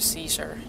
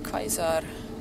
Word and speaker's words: Caesar: You see, the regular wasteland folks use English pronunciation when they refer to Caesar, and the ones who say Kaiser are the ones that have something to do with him, usually.